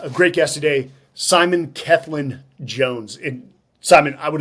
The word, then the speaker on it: Cellan: don't know if that is a a British pronunciation or well it's it's somewhat British you you did great by the way it's kin Jones and it is from Wales Wales I